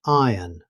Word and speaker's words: iron: In British English, iron. The R is not pronounced because it comes before a consonant sound.